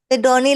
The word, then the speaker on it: Sidoni: Sidoni, like Sydney in सीडोनी Australia.